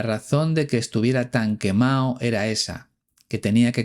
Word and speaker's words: quemado: Cuidado con esta expresión porque no decimos estoy quemado, sino estoy quemado, sin pronunciar la D, ya que se trata de una expresión muy informal.